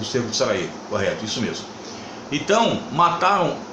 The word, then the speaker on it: Sarajevo: A primeira situação é o cerco à capital da Bósnia, Sarajevo, ou Sarajevo não, Sarajevo que se pronuncia.